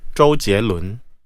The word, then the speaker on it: 周杰伦: 발음을 다시 한번. 桂纶镁, 周杰伦.